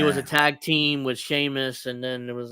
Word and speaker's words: Sheamus: Because Cornette calls him Seamus, yeah. I'm pretty sure it's Sheamus. He's just enunciating. He's just pronouncing it. Yeah. Seamus. As it's spelled, but it's not said that way in Ireland.